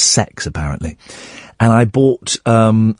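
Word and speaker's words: CeX: It's pronounced sex, apparently.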